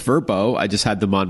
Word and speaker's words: VRBO: owners right right okay VRBO which is now pronounced verbo I just had them